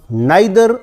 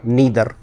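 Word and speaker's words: neither: तो सी is reading नाइदर a story, एक different हुआ स्टोरी, इसके जस्ट पहले मैंने लगा दिया नाइदर या नीदर, दोनों उच्चारण आप कर सकते हैं।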